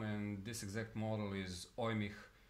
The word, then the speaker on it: Eumig: this exact model is ohmic I think it's pronounced like that it's made by Austrian